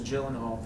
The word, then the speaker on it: Gyllenhaal: a couple other places have we been pronouncing your last name wrong this entire time it just depends is it you know I guess I don't know what do you say I I was told as Gyllenhaal from a very young